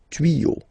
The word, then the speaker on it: tuyaux: Okay, des tuyaux. Same rule, you don't pronounce it. Des tuyaux.